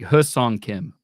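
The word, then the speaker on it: Hyeseong Kim: watching the their Spring Training Game the why is silent apparently so it's it's it's h it's like hus on Kim oh good to know since someone decided to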